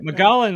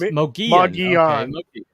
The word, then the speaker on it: Mogollon: Okay, Mogollon is pronounced Mogollon.